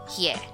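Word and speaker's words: ㅖ: Next we have ye. Ye is pronounced like ye in the English word yellow.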